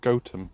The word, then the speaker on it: Gotham: in Batman after this place apparently it's not pronounced Gotham Gotham goam goam yeah it's Gotham we all know we